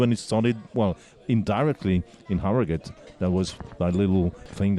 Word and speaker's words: Harrogate: ride the other day, gave us the correct pronunciation. Let's just hear what it is. Harrogate.